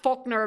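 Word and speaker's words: Volkner: It's pronounced Faulner because in German the W turns into an F. The V turns into an F.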